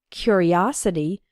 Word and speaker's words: curiosity: And in the noun form, curiosity, the third syllable is strong, os. His curiosity got him into trouble.